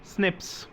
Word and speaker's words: SNP: हैं, single nucleotide polymorphism, and इट is also pronounced as SNPs।